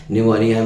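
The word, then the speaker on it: pneumonia: कुछ वर्ड ऐसे होते हैं जो साइलेंट होते हैं, जैसे काम में है साइलेंट होता है, न्यूमोनिया में P साइलेंट होता है।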